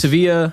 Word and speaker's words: Sevilla: Sevilla, I think it's pronounced.